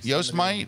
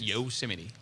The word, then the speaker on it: Yosemite: anyway out in Yosemite yo smite it's actually pronounced ghost might just Yosemite alright so no there's not enough letters in there to be Yosemite okay and this is